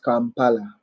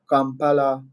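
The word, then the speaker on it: Kampala: And for starters, I forgot to tell you the capital city of uh Uganda is Campala. Campala. Some of you pronounce it Campala. Compala.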